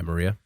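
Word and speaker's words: Mriya: The Maria? Yeah, Maria.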